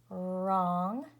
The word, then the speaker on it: wrong: And remember that W-R together says and the W is a ghost or silent letter, and K-N or G-N says N, and the K is a silent or ghost letter.